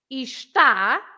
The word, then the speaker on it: está: But if you say está, it has that accent over the A, so it doesn't matter how many syllables we have in the word. All it matters is that we have an accent. So that accent makes you pronounce ta with more stress. So it's está.